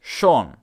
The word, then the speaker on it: schon: without this accent on compare the words shawn meaning already and chern meaning beautiful motta muta ah did you hear that the vowel sound changed with the addition of the umlaut there was